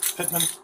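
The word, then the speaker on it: Pittman: the motion upside what's your last name sir Pitman can you spell that for oh there we go p i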